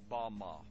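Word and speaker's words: במה: which Satan fell is strong Hebrew word 116 pronounced Bama Bama is most commonly used to refer to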